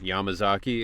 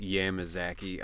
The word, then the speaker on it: Yamazaki: He's like, "How did you pronounce that word?" And I was like, you know, Yamuzaki. And he's like, "Yeah, earlier I had somebody say it, Yamazaki."